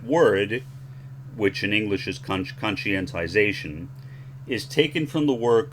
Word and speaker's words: conscientization: That is anglicized as conscientization. I like the way this guy says it, so I'll play you his pronunciation followed by mine. I like his voice. Conscientization.